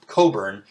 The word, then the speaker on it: Cockburn: but she she changed her name from uh coburn pronounced coburns but it's spelled cockburn right like c-o-c-k-b-u-r-n